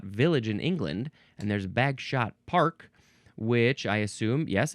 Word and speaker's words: Bagshot: in England, and there's Bagshot Park, which I assume, yes, it's a historical landmark in Bagshot, England. Now, do you pronounce it Bagshot? Or do you pronounce it Bags Hot? Bags Hot. Interesting.